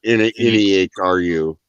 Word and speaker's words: Nehru: Nehru.